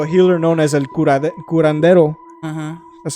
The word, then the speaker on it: curandero: They wouldn't investigate until a healer known as El Curandero.